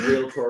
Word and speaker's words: realtor: Because at least he said realtor with 2 syllables, right?